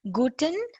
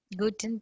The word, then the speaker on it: Guten: Here, if you see Guten, you have to really remember how it is. It is like Gut apostrophe N.